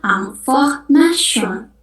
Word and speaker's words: information: Contoh yang pertama, information. Itu dalam bahasa Inggris information. Tapi kalau bahasa Prancis ya kita bacanya information. Information. Jadi terakhirnya itu shon.